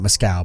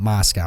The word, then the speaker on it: Moscow: them down the Moscow they're not mask al but Moscow I know to pronounce